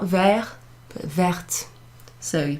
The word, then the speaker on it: verte: Une écharpe verte, not vert, but verte. So you pronounce the T when you add that extra E went to something that's feminine.